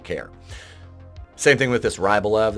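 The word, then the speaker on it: Rybolovlev: If I'm pronouncing any of those wrong, I don't care. Same thing with this Rybolev. It's Rybolovalev.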